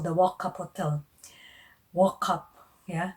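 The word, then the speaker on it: Wauchope: up is actually not walk up us in you walk up in the morning no it's just how they pronounce it the the which is the spelling is w-a-u-c-h-o-p-e okay it is um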